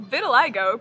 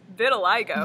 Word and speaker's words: vitiligo: and its effects on the human body well Vitiligo pronounced Vitiligo Vitiligo is a pigmentation disorder in which melanocytes